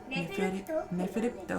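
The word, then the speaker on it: Neferpitou: Neferipto. Why have you done this to me? Neferipto. Neferipto. Don't pronounce it from what I said. What she said. Neferipto. Or just Pito. No, don't say the I.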